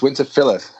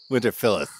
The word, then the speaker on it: Winterfylleth: so you know yeah it's winter philth winter philith like winter Phil the guy's name and then F that's